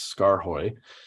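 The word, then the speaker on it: Skaarhoj: And yes, I figured out how to pronounce Scar Hoy from my friends in the Netherlands.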